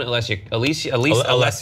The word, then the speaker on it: Alessia: All the awards that were given out went to men, except for one, Alessia.